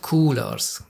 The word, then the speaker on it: Coolors: is called Coolors, and I'm just going to go ahead and assume that this is how they want us to pronounce it, because it's basically, well, it's a rather clumsy abbreviation of the phrase cool colors, isn't it?